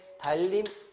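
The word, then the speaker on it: 달님: 두 번째 달림. 여러분 요거는 발음이 달림 이렇게 나잖아요. 그치? 이렇게 나는 이유는 니은이 리을이 앞에 있으니까 리을로 바뀌는 건데 니은이 앞이나 뒤에 리을이 있어가지고 그걸 따라서 리을로 바뀌는 거 이걸 뭐라고 하느냐?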